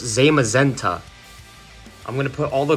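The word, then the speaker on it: Zamazenta: watched a YouTube video how to pronounce this Pokemon but it's Zema zenta I'm gonna put all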